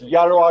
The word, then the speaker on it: Jaro: That's it's Jaro. Actually, you say it with Y. It's spelled with J.